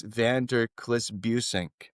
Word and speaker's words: van der Klis-Busink: Uh, my guest today is Max Vanderliss Buen. Welcome, Max. Thank you, and a perfect pronunciation of my very difficult Dutch name.